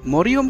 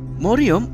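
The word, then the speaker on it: মারইয়াম: যদি প্রশ্ন করেন যে মরিয়ম কি ইসলামিক নাম, হ্যাঁ মরিয়ম নামটি একটি ইসলামিক নাম। মরিয়ম নামটি কুরআনের নাম। মরিয়ম নামটি মেয়েদের জন্য একটি আরবি নাম। মরিয়ম শব্দের শুদ্ধ উচ্চারণ হল মারিয়াম।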